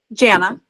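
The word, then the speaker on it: Janna: Jana. Jana. Okay. As Okay, I, beautiful. My whole life I've said it's like Jana banana.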